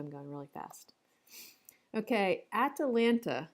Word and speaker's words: Atalanta: Okay, Atalanta. Yes, that's not a spelling. That's not a typo. That's how they say it.